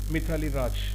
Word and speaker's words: Mithali Raj: Let us take the case of what we call actually Mithili or Maithili, whatever you go, according to the place you can do it. So Mithili Raj, okay, actually I'm not okay, pronouncing it clearly. Okay, normally we call it Mithali Raj, okay, Mithali Raj, and